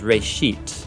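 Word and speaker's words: בראשית: from a Hebrew word it's pronounced race sheet and it just means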